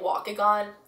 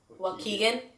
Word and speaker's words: Waukegan: 3rd in Chicago in I was pronouncing it walk again I think it's Waukegan Waukegan Illinois like close to